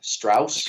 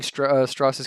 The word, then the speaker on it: Strauss: Strauss or whatever. Yes. And what's Strauss. going on with Strauss? He says straws pronounced like straws.